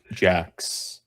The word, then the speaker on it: Jax: Jax, and that's why he's still getting the name wrong. No, it's Jax, spelled Jax.